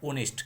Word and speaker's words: honest: कि हम पढ़ते हैं, इसको लिखते HONEST, इसको बच्चे पढ़ते हैं ऑनेस्ट। क्या पढ़ते हैं? ऑनेस्ट। लेकिन ऐसा नहीं है, इसका हम साउंड, इसको हम पढ़ेंगे, उच्चारण करेंगे तो उसको पढ़ेंगे ओनेस्ट। क्या पढ़ेंगे?